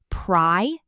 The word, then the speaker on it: prioritize: Five syllables, pri-or-a-tize. The stress is on the second syllable, or.